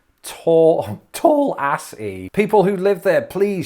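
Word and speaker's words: Tallassee: so hang on see put the emphasis on the first syllable so it's tallassy instead of telassi that's wild it's just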